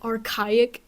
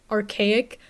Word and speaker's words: archaic: So firstly, in a video, I pronounced this word wrong. I said archaic. It's pronounced archaic. I learned that word from reading, I'm sorry.